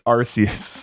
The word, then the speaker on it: Arceus: pronounce Arceus Arceus Arceus I was right you're wrong all right it's Arceus it was the first